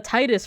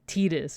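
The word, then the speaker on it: Tidus: Fantasy 10 came out I also called him t uh Titus for a while until I think Kingdom Hearts came out and they confirmed that it's pronounced like tetus and I was like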